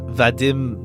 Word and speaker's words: Vadim: If it if it ends up playing a playing a role cuz like pronounce um vadim. Vadim, not va vadim. Not vadim. Okay. So, if it's on the i, not the a.